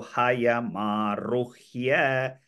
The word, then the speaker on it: हयमारुह्य: So for others, the here, ruhya sound should be pronounced as her first, here, and year in the end. So hayamaruhya, her and year sound joined together, H-Y-A. Hayamaruhya, it goes like that.